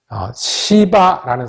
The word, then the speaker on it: 시바: 상대 하지 못했던 사람들이 등장합니다 첫번째 등장한 사람이 시 바라는 사람입니다 발음 주의 하셔야 됩니다 아 이씨 발을 어떻게